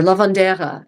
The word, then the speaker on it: lavender: household accounts is a lavender. Not lavender, lavender or lavandera if the final E is pronounced in that dialect of English.